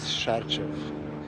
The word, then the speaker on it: Sarcev: They always ask me how you pronounce, your name. My first name is Milos and last name is Sarcev.